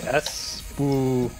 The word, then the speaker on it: Espgaluda: Let me read the pronunciation of this game. Espgaluda.